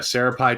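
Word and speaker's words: Sri Praphai: place and syrup pie it's uh pronounced so yeah Sarah pie Thai restaurant in Queens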